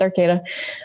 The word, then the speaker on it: Arcata: onto the program, is my apology if I don't pronounce this right, Arcata? Yep, you got it right, Kathy. It's Arcata. Hi, everyone.